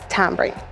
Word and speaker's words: tamarind: We say tambring. Tambring. But I think it's correctly pronounced tamarind.